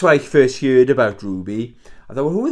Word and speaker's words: RWBY: It's I always pronounce this wrong. It's RWBY, Ruby.